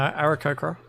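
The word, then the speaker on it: Aarakocra: You know, that really sounded like you didn't know how to pronounce it, so you just went, no, No, Arakokra. I know how to pronounce it.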